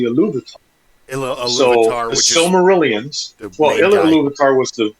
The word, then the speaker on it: Silmarillion: history and it was really fantastic because the Silmarillion, that's how you say it. I've never been able to. That's the way I was told. Sally Millie.